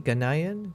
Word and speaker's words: Ghanaian: How do you pronounce it? What do you say? Ganayian.